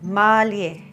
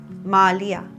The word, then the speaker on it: mālie: Our ʻōlelo, or a Hawaiian word for today, is mālie. E hoʻopili mai. Mālie. And it can also be pronounced mālia.